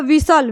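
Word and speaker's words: whistle: हो जाएगा विसल यानी इसमें भी हमारा एस टी एल ई आया है तो इसको सिंपल बस क्या पढ़ रहे हैं सल का साउंड निकाल रहा है ये भी ठीक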